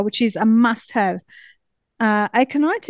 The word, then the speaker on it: aconite: Aconite, is that how you pronounce it? Aconite, yeah. Aconite.